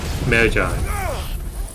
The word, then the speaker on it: Magi: So, speaking of which, I really read the sub-series called Magi.